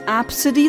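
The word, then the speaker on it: Abcde: And apparently it's pronounced absid.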